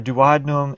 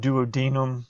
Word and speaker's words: duodenum: intestine called the duodenum now remember duodenum and duodenum these are terms you can use for this different textbooks use different pronunciations of it so I guess pick which one you like the best and in stick with that one so the the juices